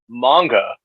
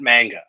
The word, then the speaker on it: manga: And I'm going to do I'm going to pull an alpha nerd and remind you that it is manga, not manga. Thank you.